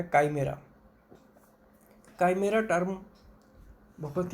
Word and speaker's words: chimera: काइमेरा, इसको spelling इसकी CHIMERA है, काइमेरा। कुछ पुस्तकों में इसको चाइमेरा लिखा हुआ है, गलत है वो, काइमेरा सही शब्द है।